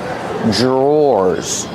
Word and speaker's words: drawer: Drawers. Or like door and floor. Drawer.